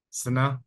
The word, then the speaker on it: Sine: in the city of, is it pronounced Sine? Sana, yes. Huh?